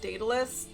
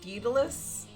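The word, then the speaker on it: Daedalus: I'm like 99% sure it should be pronounced Datalus and she keeps saying Dalus and it's really annoying me.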